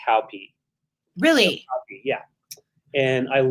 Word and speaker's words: Hopi: It's pronounced Hopi.